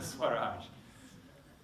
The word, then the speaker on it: Swaraj: The second one is the other big principle, as I understand, is Swaraj. Did I pronounce that one right? Yep. Yes. Yep. Swaraj.